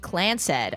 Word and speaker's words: Clance: The Clance, pronounced Clansed.